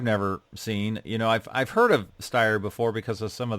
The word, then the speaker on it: Steyr: It's a 1939 Steyr 220 Cabriolet. Now, is that correct? I mean, I know that's a German company. How would you pronounce that? Yeah, that's correct. Steyr.